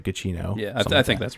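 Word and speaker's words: Giacchino: i think michael uh cuccino i think it's how you say his name um guccino or something like that anyway cappuccino no it's it's g-i-a-c-c-h-i-n-o so it's like gachino yeah i think that's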